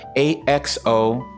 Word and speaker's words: axolotl: interested to see what it looks like axolotto is spelled a x o l t x o lotto yes x a-x-o-l-o-t-l axolotl okay all right so let's take